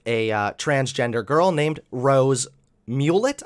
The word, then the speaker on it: Mulet: transgender girl named Rose Mulet. I believe that's how to say her name because it's not spelled the same as mullet.